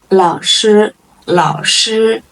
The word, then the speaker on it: 老师: 老师 Lao is the third tone. Shi is a first tone.